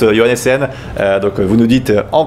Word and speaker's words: Johannessen: Et donc, comment on prononce Johannessen.